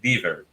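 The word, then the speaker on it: Dever: E a pronúncia é Deaver. William Deaver. Deaver, é a pronúncia certa.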